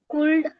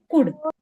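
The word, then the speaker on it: could: भी मैंने बताया था एल जो होता है यहां पे साइलेंट होता है। सी ओ यू एल डी इसका प्रोनाउंसिएशन फिर क्या आएगा? एल तो हम प्रोन नहीं करेंगे। Answer will be कुड okay हां तो कुड आंसर आता है।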